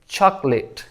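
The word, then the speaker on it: chocolate: को खत्म कर दें चॉकलेट चॉकलेट इसको लेट नहीं पढ़ना बल्कि लिट यानी चॉकलेट चॉकलेट इसके बाद ये इसको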